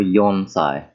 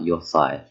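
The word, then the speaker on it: 四歳: Number 4, Yonsai. Not Yosai. Not like time.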